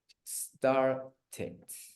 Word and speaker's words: started: Y el único que sí se pronuncia is this one, el verbo comenzar, sería entonces started, ¿no? Started, es el único que sí se pronuncia, started, yeah, like that.